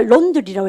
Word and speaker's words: laundry: 근데 이거 발음할 때 O 발음입니다. 라우가 아니고 O. 여러분 그럼 보세요. 왜냐하면 그럴 때 AU 발음 어떻게 합니까? because 그럽니까? because 합니까? because 똑같아요. 그래서 우리가 laundry라고 얘기하시면 돼요.